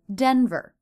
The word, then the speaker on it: Denver: with my thought but normally that word will be said denver stress is on the first syllable and the ER ending unstressed as always must be very short for denver paint now where were